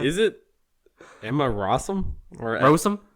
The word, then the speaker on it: Rossum: Or Rossum? Rossum. No, It looks like Rossum. Like Ross, R-O-S-S.